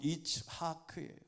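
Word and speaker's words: יצחק: 웃었다고 하는 이름이 이삭입니다 본래의 발음은 이츠하크 이삭이 이츠하크 이삭 이것은 웃는다 웃음이라는 뜻이에요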